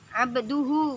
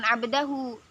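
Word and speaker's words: عَبْدُهُ: Nah, ini Muhammadan abduhu bukan abdahu.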